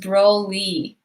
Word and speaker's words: Broly: Oh, someone said it's pronounced Broly.